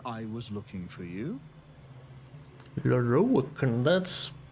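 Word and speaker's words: Lorroakan: Lorokan, that's how you pronounce it.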